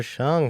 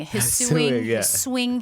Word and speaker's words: Hsiung: Wahab in the studio today we got Cheung how are ya very well and even happier that you got my last name pronounced correctly on the first go it is